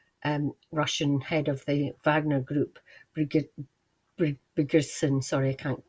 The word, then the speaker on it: Wagner: just kept hearing them thank you for pronouncing the in the true Germanic form Wagner um so I